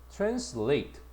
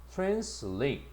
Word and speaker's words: translate: translate 강세를 봐라. 뒤에가 있다. translate 요렇게 해야 돼.